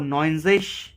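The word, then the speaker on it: neunzig: आक्जिश ये सेम रहता है, आक्जिश 90 को नॉइजिश एंड 100 को आइन हुंडर्ड भी कह सकते हैं, बट आइन हुंडर्ड ज़्यादा अच्छा रहता है।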